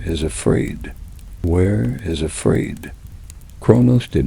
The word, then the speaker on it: Kronos: with Kronos himself, the Titan king who had held the whole soft world together.